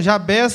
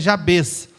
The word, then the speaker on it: Jabez: Algumas pessoas falam Jabez, mas eu estava dando uma olhada na pronúncia correta, é Jabez, né?